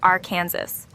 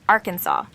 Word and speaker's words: Arkansas: Some insisted on the French derived pronunciation Arkansas while others preferred the Americanized R Kansas. To settle the matter, lawmakers officially chose Arkansas, aligning with the original French influence, but adding a uniquely